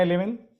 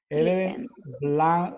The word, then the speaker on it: 11th: una marca que llama se escribe 11th pero se pronuncia Eleven en inglés Eleven Black negro coffee un